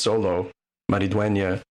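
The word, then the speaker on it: Xolo Maridueña: Yeah, so Cobra Kai star, I think it's pronounced Solo Maridueña.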